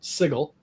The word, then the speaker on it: Sigil: what they called it, Sigil. They did the hard G.